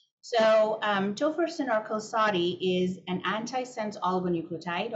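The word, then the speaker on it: Qalsody: name for topherson which I learned recently is pronounced as kosari and kosari is an intratico Gene targeted therapy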